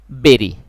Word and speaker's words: bury: এরপর এই ইউ থেকে আমরা BURY, এই শব্দটির উচ্চারণ বেরি।